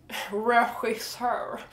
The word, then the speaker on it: regissör: And we have another word with the same cat hissing sound, and that is director. Director in Swedish is regissör.